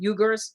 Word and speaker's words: Uyghurs: That's how you say it, Uyghurs and the government.